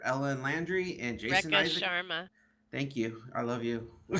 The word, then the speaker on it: Sharma: Rishka, I'm going to pronounce this wrong, Rishka Shamara as Commander Ellen Landry and Jason Isaac. Sharma.